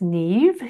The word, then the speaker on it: Niamh: So my name is pronounced Neve, even though it's spelled NIAMH.